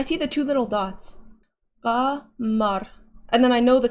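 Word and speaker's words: قمر: Yeah, this is gamar. Is that how you say it? Isn't that a golf? The little thingy in there? I see the two little dots. Qamar.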